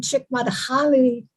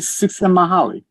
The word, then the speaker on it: Csikszentmihalyi: know that Lance, I'm probably pronouncing it wrong, but there is a writer, it's a long name, Csikszentmihalyi.